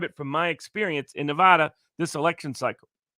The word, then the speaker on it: Nevada: And so I can just describe it from my experience in Nevada this election cycle. I like to say Nevada, but Nevadans tell me it's Nevada, which I hate that pronunciation. You got sounds English.